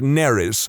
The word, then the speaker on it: Nerys: has the middle name Nerys, as in Major Kira, which would be fine, except that it's spelled exactly the same as a Welsh name, which is pronounced Neris, which is entirely not what I was going for.